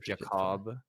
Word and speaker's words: Jackob: be like it's like how do you explain in text how to pronounce jacob i say it's like kebab like jacob but it's kind of